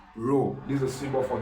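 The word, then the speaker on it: rho: a symbol of density it's pronounced as r h o you can call it row this is a symbol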